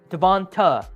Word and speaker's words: Devonta: Devonta. When it ends TA, it's ta. When it ends TAE, it's tay.